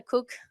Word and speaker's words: Koch: But the reason I'm sharing this picture is because Christina Cook, it's spelled Koch.